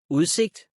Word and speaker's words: udsigt: Another situation where the D sound is silent is when it is a part of a combined word like Ordbog. Ordbog. Udsigt.